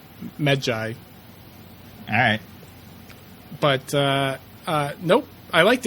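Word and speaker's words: Medjay: so it's jury but they pronounce it like med joy alright but nope I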